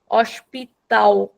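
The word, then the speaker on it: hospital: give it अ ल sound we रे rather pronounce it like a डब्ल्यू और like a यू so this word becomes अशताओ औष्पिताऊ specifically only in ब्राज़लियन in European it will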